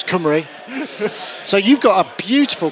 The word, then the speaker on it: Cymru: has instructed me on uh on how to pronounce cumy so you've got a beautiful collection of synthesizers